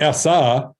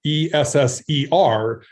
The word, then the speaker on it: ESSER: acronyms um this is uh we talked about essa this is sr e-s-s-e-r esser funds that uh will allow us um